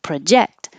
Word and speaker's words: project: is just longer necessary if it's a verb project the verb the stress is on the second syllable project project I should be